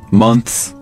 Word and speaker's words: months: Right, or maybe the word months 对就是那个月份然后加上 S 复数这两个音都要发出来 Months, months 它们的难